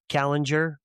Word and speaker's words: Kallinger: Um Callinger, right? Did I pronounce it right? Yes. Joseph Kallinger.